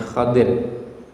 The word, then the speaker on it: Khadir: Ya, ada yang membacanya Khadir.